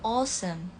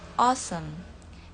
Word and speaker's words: awesome: Kalau misalnya British itu agak O, awesome, awesome. Kalau American, awesome. Jadi kalau di British itu agak lebih O, awesome.